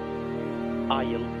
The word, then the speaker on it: isle: Letter S is not pronounced before L, like island, isle.